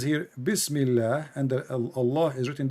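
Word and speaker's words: بسم الله: So in the first one in Arabic, it says here Bismillah, and the Allah is written differently.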